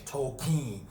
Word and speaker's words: Tolkien: about a movie called token or tokine however they pronounce it that's the way he pronounced in the movie he was like my name is tokine it was like token token whatever but that's how you pronounce the name you want to move